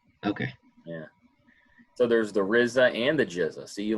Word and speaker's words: RZA: it is that's the rizza very good i see you learning very good yes it is thereza very good oh yeah it's rizza not rza well it's pronounced rizza but yes it's rza